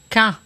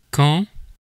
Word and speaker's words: quand: In Quebec French, there's quand. And in Metropolitan French, there's quand.